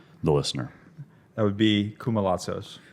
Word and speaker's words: Koumalatsos: Welcome to the stage, and I'm going to let you pronounce it in the most authentic Greek fashion for the listener. That would be Koumalatsos. Koumalatsos, which sounds easier to say than what it